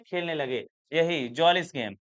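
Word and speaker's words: Mjölis: यही jealous game इसको बेटा एम इसमें साइलेंट हो जाएगा। Jealous game.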